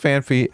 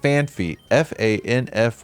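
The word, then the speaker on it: Phanpy: However, some people mispronounce it as FanFy. Do it due to a misconception about the spelling, possibly due to a Pokemon card that was reportedly misprinted.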